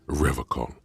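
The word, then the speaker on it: Revachol: tempted on occasion, but someone has to stay strong for Revocol. He pronounces Revocol with a hard K.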